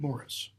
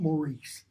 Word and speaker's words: Morris: How did you elude Morris? It's how it's pronounced, by the way. It's not Maurice. It's an American pronunciation.